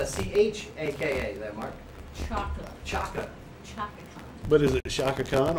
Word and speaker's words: Chaka Khan: Also, Shaka Khan. Shaka Khan. Oh, Shaka. Let's see what Shaka Khan has for us. And that's spelled C-H-A-K-A. That Mark. Chaka. Chaka. Chaka Khan.